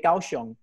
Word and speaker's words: Kaohsiung: We say Kaohsiung.